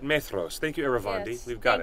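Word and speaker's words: Maedhros: in The Silmarillion it's not menos yes man throws yes yeah with the D H that sounds like a th yeah yeah may throws yeah it's almost as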